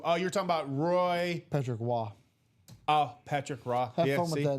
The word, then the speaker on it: Patrick Roy: It's Patrick Raw. Raw. Yeah. I always say I always call him Patrick Roy. Patrick Wah. Yeah. See, it's not Raw, isn't it? It's Patrick Wah.